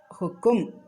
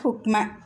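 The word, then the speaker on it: हुक्म: ஹுக்கும், ஹுக்கும், கும் அப்படின்னு தான் ப்ரொனவுன்ஸ், இக்கு ம தான் ப்ரொனவுன்ஸ் பண்ணுவோம். ஸோ ஹுக்கும் ம, ஹுக்குமன்னா ஆர்டர். இங்கே இக்குக்கு புள்ளி வச்சுட்டோம், அதனால் அதை ஹுக்ம அப்படின்னு படிக்கணும். ஹுக்மன்னா ஆர்டர்.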